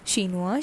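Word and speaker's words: chinois: and it becomes shinuas the pronunciation remains the same that is shinwa shinwas shinua shinuas okay moving to the next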